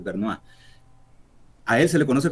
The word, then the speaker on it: Bernays: se llama Edward Bernays, se escribe, pero es como francés, Bernois.